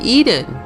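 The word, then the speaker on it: Ehden: the area for example a town across from hazrun is called Eden e h d e n which phonetically is the same as Eden e d e n as in the Garden of Eden now although it appears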